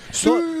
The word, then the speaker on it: Sui: Ronaldo Sui, you know that everyone pronounced that wrong. It's Sue. Not not SUI guys, just for just